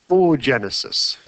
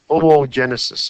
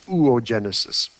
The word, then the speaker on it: oogenesis: it's called it's called oh genesis or ooh ooh genesis you pronounce both o's in this word oh genesis or some people say ooh genesis um this this part